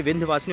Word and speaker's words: विंध्यवासिनी: कहीं आपको देखने को मिलता है विंध्यवासिनी, कहीं होता है विंध्यवासिनी। सही प्रोनाउंसिएशन तो यही है कि विंध्यवासिनी, और विंध्यवासिनी माता हैं